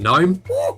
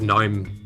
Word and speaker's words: GNOME: It's spelt gnome. Gnome is a not real animal that you call gnome, right? The G is silent.